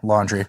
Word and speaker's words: Laundrie: Yeah, Laundrie.